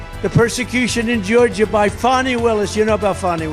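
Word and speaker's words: Fani: persec in Georgia by fonnie Willis you know about fonnie Willis right has anybody fonnie it's pronounced fonnie F and I that's Fanny but she likes it funny when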